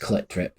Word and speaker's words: Clit Drip: It's pronounced Clit Drip in like electronic sort of voice, I think.